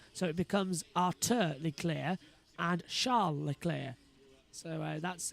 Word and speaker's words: Leclerc: Many people, by the way, are saying it's Arthur Leclerc. It's not. It's the same way it's not Charles Leclerc. It's a Monegasque French pronunciation, so it becomes Arthur Leclerc and Charles Leclerc.